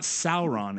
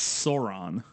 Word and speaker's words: Sauron: that pterodactyl man yeah it's not it's not Sauron it's Sauron is this okay yeah